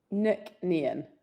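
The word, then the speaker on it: Nc'nean: One question, proper pronunciation. How do you say it? Nook nan.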